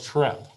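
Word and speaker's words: treppe: of twitch is a it's called trep and trep rhymes with step okay so if you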